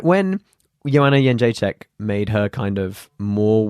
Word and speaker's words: Jędrzejczyk: Yeah, the Kentish Town Forum, which is why I knew how to say her name before anyone in the UFC was like, how do we say it? I'm like, Jędrzejczyk, because I asked her like a month ago.